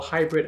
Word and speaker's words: haibrid: leading for a while, which I like to call hybrid algorithms. I spell it H-A-I-B-R-I-D because the H stands for human and the AI stands for artificial intelligence.